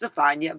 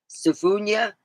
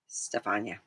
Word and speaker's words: Stefania: you want to know, it's pronounced Stefania, but that's a good way. I've had people come up with different ways of saying my name, and they're inventionable. Stefunia, Stefinia, Stefunia. And what was it? This one lady, I said, God dang, you put syllables that didn't even go with it, and it was like Stefunia. Yeah, I'm like, no, Stefania.